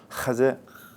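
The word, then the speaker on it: חזה: 하제 하 하세 예 이런 기회에 여러분이 자꾸 목구멍 소리를 내보지 않으면 어 발음을 하기가 어려운데 실제로 유대인들은이 목구멍 소리지 이런데 아주 민감해요 그래서 하제 하제 하제 제 예 그래서이 발음을 열심히 잘해야 돼요 그리고이음 가슴속에 보이지 않는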